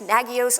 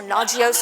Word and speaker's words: Nagios: new thing and also you're pronouncing it wrong it's nagios or naio or let's not even